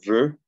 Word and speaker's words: veux: ¿Cómo es la pronunciación de esta EUX, que es igual en la de acá arriba? Es una O estirando los labios. Nuestra O española es abriendo la boca, O, y esta es E, más cerrada.